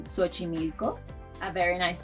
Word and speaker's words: Xochimilco: It may sound like an S, as in Xochimilco, a very nice sound south of Mexico City.